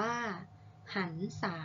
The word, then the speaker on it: หรรษา: มา ทำ ที่ 2 ค่ะ หรรษา อ่าน ว่า หรรษา ก็ หมาย ถึง ความ รื่น เริง ม.ค ที่